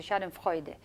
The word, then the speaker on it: schadenfreude: a German Shedden Friday challenge I think you pronounce a schadenfreude which means the pleasure derived from another's displeasure